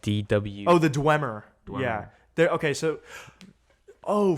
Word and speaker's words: Dwemer: Like it's spelled DW. Oh, the Dwemer.